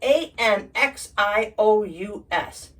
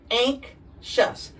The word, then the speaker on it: anxious: you don't have any angst got it then a NX i o u s what anous anxious that means you're experiencing worry or dread but